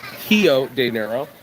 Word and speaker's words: Rio de Janeiro: Hio diero. You got to say it right. It's a hiver, not a river.